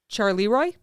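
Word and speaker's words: Charleroi: fast food murders you're going to make me pronounce this this is a power plant in Belgium originally built in 1921 charoy c h a r l e r o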